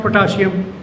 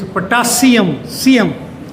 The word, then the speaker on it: potassium: My chemistry teacher in 1963-4, when I was student of the science college, they used to pronounce potassium, whereas this is not potassium, it's potassium, not sh.